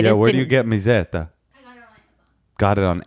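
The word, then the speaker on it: Mezzetta: Are we pronouncing that correctly? You're the Italian one. Call your dad. Well, Mazzetta? Mizzetta.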